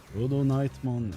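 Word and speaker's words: LordKnightmon: Did you know that crusaders English name Lord Nightmon is a fun pronounce? Rodon Knightmon in reference to rodonite which is a pink mineral.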